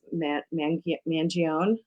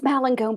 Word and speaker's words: Malangone: So I'd like to introduce Mangione. Did I say that right? It's Malangone, but it's Mal- totally okay.